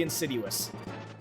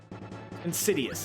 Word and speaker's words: insidious: Like it is it's hilariously insiduous. Insidious. Insiduous. Insidious. Really mispronouncing my words tonight.